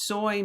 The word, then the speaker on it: soy: Yos soy means I am. So the pronunciation of soy is right here. Soy right? So it's like soy milk or whatever.